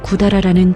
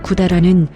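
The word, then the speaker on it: 百済: 오사카 근처에 구다라라는 지명이 있었습니다. 구다라는 백제의 일본식 발음입니다.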